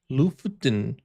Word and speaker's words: Lofoten: Lofoten.